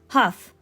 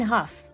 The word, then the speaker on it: Hough: let's just keep trucking how do I say her name Huff Lauren Huff okay let's try again today